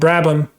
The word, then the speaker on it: Brabham: The H is silent. Brabham.